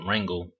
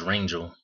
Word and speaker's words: Rangel: 17 year old kid rangle he says I say his name wrong is Rangel but um and I got